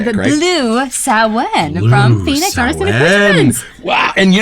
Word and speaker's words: Samhain: Shashank that's a little known fact uh it's pronounced um saen uh I'm of the firm belief that if that's how they wanted it pronounced then they spelled it wrong but it's okay s sounds Blue saen from Phoenix wow and you know what I